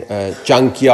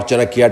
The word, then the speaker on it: Chanakya: It gives you a sense of what Hindutva is, what the Asian or the Hindu Machiavellian Chanakya or Chanakya, depending on which pronunciation you want to use, how that ideology seeps